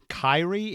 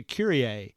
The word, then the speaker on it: Kyrie: down and taking row I pronounced uh one girl's name as Kyrie it was spelled k y r i e and I asked her I said did I pronounced your name right and she said no it's actually curier and I thought well you know is that like the song from the ' 80s and she said yes I I was named